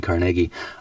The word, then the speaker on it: Carnegie: First of all, I commend you on your pronunciation of your dual pronunciations of Carnegie and Carnegie.